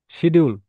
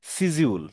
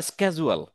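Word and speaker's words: schedule: শিডিউল। এটার উচ্চারণটা হবে সিজিউল, ঠিক আছে? শিডিউল। সিজিউল সিজিউল বা সিজিউল। সিজিউল বা স্ক্যাজুয়াল, ঠিক আছে?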